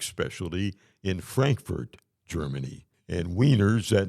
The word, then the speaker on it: Wiener: And Wieners, that name comes from Vienna. In the German language, Vienna is pronounced with as if it were, a W, Wiener.